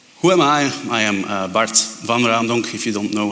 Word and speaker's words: Bart Van Raemdonck: like a polygon who am I I am Bart van Randon if you don't know how to pronounce that my name it's okay just say